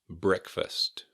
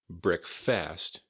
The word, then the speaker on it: breakfast: Breakfast, breakfast. Not breakfast, not breakfast, breakfast. Emphasis on the first syllable.